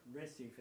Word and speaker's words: Recife: Ours in Portuguese are pronounced H. So my friend Romero Lubambo is actually Romero Lubambo, a great Brazilian guitar player. And what looks like Recife is pronounced Recife.